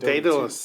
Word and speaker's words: Daedalus: And I know how to pronounce that because in Dota Daedalus, 2, yeah. in Dota 2, they had a weapon called Daedalus. That's the only reason why I know how to pronounce it, because I saw those letters.